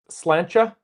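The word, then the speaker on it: sláinte: Pronounced slancha. Really? Slancha? I got I can't say it with an Irish accent, though. It probably sounds better when you say it with a nice Irish brogue.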